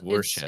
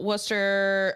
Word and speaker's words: Worcester: I think it's Worcester. I think it's Worcester. It's Worcester.